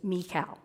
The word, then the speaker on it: Michael: In Hebrew, you would pronounce his name as Mikal.